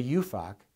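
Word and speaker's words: UFOC: franchise offering circular or the you Fock the most carefully pronounced acronym in federal law every franchisor that sold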